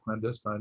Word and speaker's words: clandestine: super busy it's a place that people have clandestine meetings um that's how you pronounce that but a lot of people mispronounce